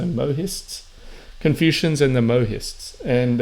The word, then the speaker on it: Mohists: Mists in the translation I guess see the H has a sound to it so mohists confusions and the mohist